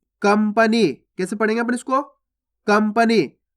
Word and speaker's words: कंपनी: कंपनी। देखो कंपनी में आधा माँ का उच्चारण हो रहा है, इस प्रकार